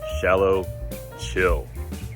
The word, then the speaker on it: 小琉球: island in taiwan called xiaolocho and if you want to know how to pronounce that word or that island just remember shallow chill right now it's about